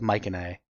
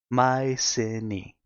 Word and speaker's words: Mycenae: I am Achilles, the greatest warrior of Mycenae.